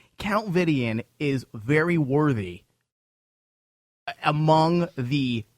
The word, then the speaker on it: Vidian: Count Vidian. Is that how you pronounce his name? Count Vidian.